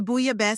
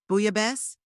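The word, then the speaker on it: bouillabaisse: The buyab is excellent, he replied. Booya best? I asked, mispronouncing the word.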